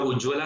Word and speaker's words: उज्ज्वला: Okay, scheme का नाम है उज्जावाला, मतलब उज्ज्वला स्कीम है, लेकिन उसकी स्पेलिंग में डबल जे आता है आपका। ओके, डबल जे है इसलिए उसको हम लोग उज्ज्वला बोलते हैं।